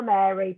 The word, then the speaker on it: Meri: It's Power Mary, but it's spelled MERI, and it's an amazing